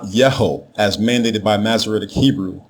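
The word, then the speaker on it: Jehu: uttered by our forefathers the Royal name everyone Mis pronounces today as juu is spelled with a single letter yah as the prefix dominative form the king's name is not juu it is ya ho yaah ho it combines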